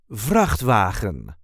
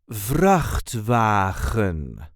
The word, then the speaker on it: Vrachtwagen: This is the way we say Vrachtwagen. Vrachtwagen. There is a light emphasis on the first syllable.